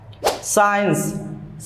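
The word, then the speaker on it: science: হয়েছে সিন means দৃশ্য সাইন্স সাইন্স means বিজ্ঞান এখানে সি এর উচ্চারণ হয়নি এস এর উচ্চারণ হয়েছে এরকম আরো অনেক শব্দ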